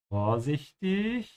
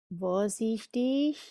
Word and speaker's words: vorsichtig: Vorsichtig. Vorsichtig. Make sure to pronounce the B like an F.